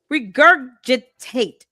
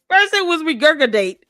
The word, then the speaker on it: regurgitate: None of them they just rejurgate whatever um Why do you keep mispronouncing this word? Stop using words with more than four syllables if you cannot pronounce it correctly. Regurgitate. Break it down. She said regurgodate.